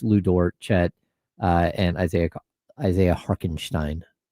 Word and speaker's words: Hartenstein: Is that how you pronounce that? Yeah, Harkenstein. No chance. Yeah. No way is it Harkenstein. Yeah. No way. You can look it up. I don't think there's a K.